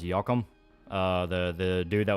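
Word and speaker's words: Joachim: J in German is pronounced like a Y.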